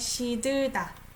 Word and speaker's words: 시들다: So I pronounce it as she, sh sound, right? 시들다.